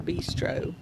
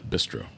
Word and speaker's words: bistro: Now you say it correctly, please. The Beastro. Bistro. Okay. Spell spell it. Spell. No, don't put me on the spot. Bro. B I S T R. I used to say beastro.